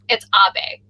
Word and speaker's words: Abe: Anyway, everybody, we got Abe from California. Say hi to us, everybody. Hey, everyone. Thanks for having me. It's Abe.